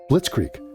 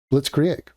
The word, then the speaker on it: Blitzkrieg: just quick fun fact, you're totally butchering that word. Blitzkrieg. And it's like, I get that you're not German, but I'm not even holding you to a German pronunciation of it. I'm saying you can't say our version of that word. say blitz means lightning. Right. Krieg. Krieg. Oh, okay. Blitzkrieg.